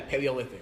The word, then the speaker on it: Paleolithic: called paleo cuz cman diet it's from the Paleolithic era is that how you say it yeah Paleolithic yep okay yeah um I can't even say